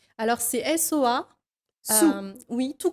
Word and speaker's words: Soa: Alors c'est SOA, Sou, oui, tout on prononce.